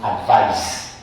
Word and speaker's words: advise: is pronounced advice, while advise with a Z, with the S rather, is pronounced advise. So this is advise.